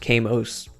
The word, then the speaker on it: Kamos: Assumedly, it's still pronounced Kamos. I would always read it as Kaimos.